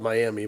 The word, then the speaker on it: Miami: I was there a couple times, and I was also in Miami, which is spelled Miami, but they pronounce it Miami.